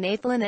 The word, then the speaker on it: Nathlin: Keep your voice very neutral and relaxed when saying Nathlin and give both syllables the same mid-range, neutral pitch.